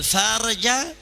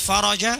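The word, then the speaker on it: فَرَج: Bunyi hadis wa annal faraja ma'al karbi, yang artinya dan kelapangan itu bersama kesulitan. Tapi kalau dia membacanya wa annal farja, bisa ditembak pakai AK-47 sama orang Yaman dia. Bisa dilempar sama orang Arab. Ini ngomong kotor di atas mimbar Jumat.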